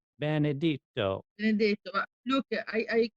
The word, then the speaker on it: Benedetto: So now on to my interview with Silvana Benedetto, who has a wonderful story to tell about